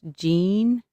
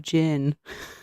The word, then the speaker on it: Jin: in the food um I think it's I've been saying his name wrong it's Jean but I I've been calling him Jin whole time no one's corrected me